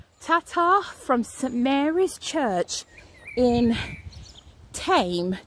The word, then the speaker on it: Thame: from samara's church in tame t-h-m-e i think it's pronounced thanks guys